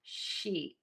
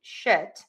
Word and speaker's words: sheet: I think all of you know the mistake here would be shit. And if you look at the difference there, sheet, shit. I am smiling. My cheeks are tense. Everything is kind of engaged and tense.